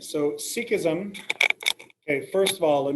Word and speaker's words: Sikhism: all right sikhism s-i-k-h-i-s-m sikhism all right so sikhism okay first of all let me get a pronunciation for you okay the correct way to say it is sikhism sikhism a person who is who practices sikhism